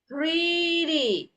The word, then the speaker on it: pretty: Nah, ini 2D T-nya ini kita pronounce-nya itu sebagai D, sebesar pretty. Oke, no pretty, no pretty. Oke, jadi T-nya itu di saat dilafalkan kedengaran seperti D ya dalam bahasa Indonesia. Pretty.